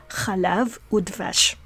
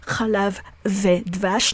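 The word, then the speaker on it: וּ: So in these cases, we don't say melach ve pilpel, we don't say hummus ve falafel, that's wrong. Chalav ve dvash, no. We pronounce the conjunctive vav as u in these cases when the word being attached to the vav make your lips press together.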